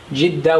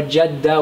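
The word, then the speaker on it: جدة: It can be pronounced as Jeddah with a kasra or Jeddah with a fatha.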